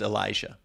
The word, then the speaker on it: Ill-Esha: Her artist name, spelled ILL-ESHA, pronounced Elisha.